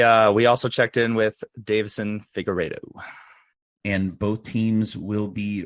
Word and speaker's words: Figueiredo: It is Figueiredo. Figueiredo. I can never remember exactly how to pronounce it.